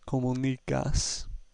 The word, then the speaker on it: comunicas: Therefore, our stress is on the next to last syllable, giving us comunicas.